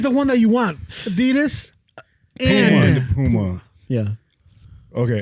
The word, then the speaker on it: Adidas: The actual pronunciation is Adidas. Because that's both of the brothers German That's both of the That's the both of the the brothers Germans names. The first one is Adi, so you People that work